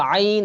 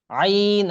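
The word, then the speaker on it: عين: মানে হইছে লর আইন না কিন্তু এটা হলো আইন ভিতর থেকে একদম ভিতর থেকে আইন আইন এই যে এখান থেকে আসবে আইন তাহলে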